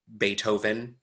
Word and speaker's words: Beethoven: Beethoven, B-E-E-T-H sign. It doesn't have to be a th, like it doesn't have to be soft. It can be pronounced like a T.